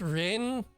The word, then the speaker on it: Ren: It's Ren. It's very easy to say. It's only one syllable.